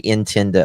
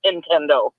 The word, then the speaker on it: Nintendo: I'm such an Appalachian listen I say intendo oh no I no no Nintendo to get you to buy their games when they send sell you that system it is Nintendo what is it how